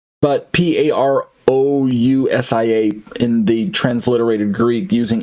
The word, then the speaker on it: parousia: And this, or some people say parousia, but P-A-R-O-U-S-I-A in the transliterated Greek using English letters, Latin alphabet. But I pronounce it as parousia.